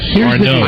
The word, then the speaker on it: Arnaud's: What's the pronunciation? Arnaud's.